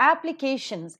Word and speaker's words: application: K is the syllable that is present before shun and hence that is to be given accent. So it is application, application.